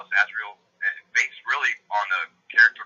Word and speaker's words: Azrael: Is that how you pronounce it? It's Azrael.